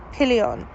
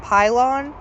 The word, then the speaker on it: Pillion: Now, the movie we're going to talk about is called Pillion. And that is how you pronounce it.